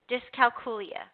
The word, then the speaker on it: dyscalculia: to say I didn't even I wasn't even pronouncing it right which was embarrassing to me it is called discal kulia dyscalculia this Cal kulia okay quite a mouthful almost